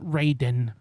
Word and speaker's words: Raiden: the early Mortal Kombat it was R A Y dash Den Raiden Raiden squeeze my HW but then they kind of stopped doing that in later games but they still pronounce it Raiden for some reason I